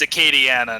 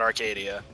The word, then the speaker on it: Acadiana: think what geek said it's not Arcadia but like Aria or something I keep saying it wrong it's you'll see it just to say just to correct you in case you I heard the might be the case but yeah it's Acadiana not Arcadia Acadiana where is Arcadia